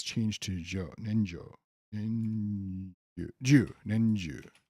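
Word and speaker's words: 年中: Nenju, not Jo. So it should be pronounced Nen Chu, but the Rendaku makes it Nenju.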